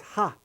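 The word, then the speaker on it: は: one right here is ha a che ha but when you use this symbol this ha symbol as a particle as a particle within a sentence it's pronounced wah I don't know why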